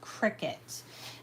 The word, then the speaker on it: Cricut: i c u t it sounds like a bug but it's cry cut and it's pronounced Cricket um and then you